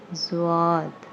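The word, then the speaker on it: ضاد: under on it and it is called zoad and it has the same sound like the alphabet Z next is okay I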